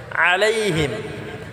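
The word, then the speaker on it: عليهم: আলাইহিম, আলাইহিম আইনটাকে গলায় চাপ দিয়ে হিমটা, হিম এটা গুণনা করা যাবে না, আলাইহিম।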